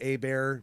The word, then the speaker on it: Hebert: have my own musical Facebook page it's a bear music but it's it's spelled like a - bear that's good idea